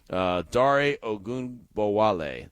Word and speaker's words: Dare Ogunbowale: But Dare Ogunbowale, that's how you say his name.